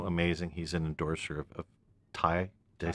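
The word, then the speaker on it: Taye: He's an endorser of Thai. Did I say it right? Thai drums. Yeah. Yep, Thai drums.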